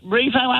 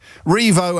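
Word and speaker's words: Rievaulx: Oh, Revo Abbey?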